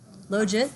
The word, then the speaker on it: logit: that we talked about logic that's most common hmm rhymes with legit probit the one that